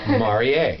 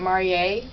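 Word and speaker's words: Marié: yeah well you know the only thing that makes it marier versus Marie is that little accent that goes over the E and it was not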